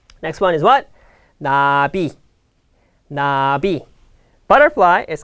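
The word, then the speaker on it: 나비: Nabi.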